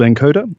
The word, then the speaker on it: nkoda: So the company that I founded and I now run is called nkoda, Nkoda, it's how it's spelled.